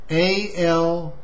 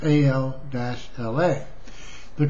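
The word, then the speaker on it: Allat: These three goddesses were, and I'm going to spell this, A-L-L-A-T, A-L-U-Z-Z-A, and M-A-N-A-T. I'm going to try to pronounce that.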